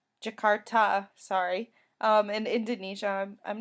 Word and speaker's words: Jakarta: 4th she finished up into jakara I'm sorry if I said that wrong Indonesia Jakarta sorry um in Indonesia